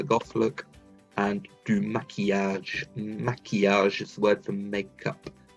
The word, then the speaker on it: maquillage: Maquillage is the word for makeup. Maquillage, really lovely word to pronounce because it's got that E sound in the middle.